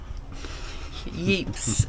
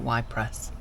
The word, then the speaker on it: Ypres: Yeeps in Belgium. I think it's pronounced Yeeps. It's not Ypres.